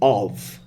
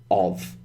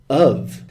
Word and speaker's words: of: Notice I don't say of. And in fact, I almost never say of. I say of. So that actually sounds like UV, of.